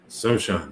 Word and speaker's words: Sochan: And I heard his name pronounced last night, and I've forgotten how to say it again. Is it Sochan? Sochan? Sochan, yes.